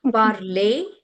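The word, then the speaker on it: parler: it for you okay parlay the ER sound would become a sound okay elongated a parl so so so R would be silent yes I would be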